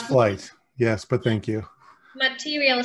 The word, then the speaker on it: Flite: dan to tell more about his flight or fleet company how should i pronounce it correctly it's flight yes but thank you material sciences uh whenever